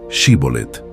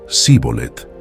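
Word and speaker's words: Shibboleth: río Jordán dijeron que pronunciaron la palabra shibolet sin embargo debido a su herencia egipcia no pudo pronunciarlo correctamente y en su lugar utilizó la forma zolet esta dificultad lingüística provocó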